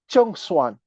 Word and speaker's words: Zheng Xuan: Zheng Xuan, Z-H-E-N-G, X-U-A-N, born in 127 BCE, and he died in 200 BCE.